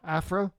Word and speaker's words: Aphra: Aphra. Aphra.